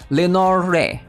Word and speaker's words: Lenore: be begin uh for Lenor I'm just going to pronounce it as Lenor I'm not sure if the E is silent or not Lenor Lenor so what is she all